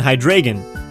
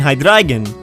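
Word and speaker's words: Hydreigon: it's a common misconception that these Pokémon are pronounced Dino zis and hydren but in fact their pronunciation is actually Dino zilus and hydragen mimicking a V and which is German for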